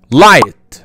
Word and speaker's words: light: اول حالة حرف الجي ما بيتنطقش فيها لما بيجي بعده حرف الاتش، يعني الجي مع الاتش ما بيتنطقش. ركز كده، light, fight, tight, right, sight, night, light, flight.